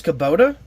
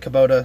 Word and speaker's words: Kubota: know that but I didn't know how to pronounce the sponsor I figured it was Kubota but I didn't know if I was right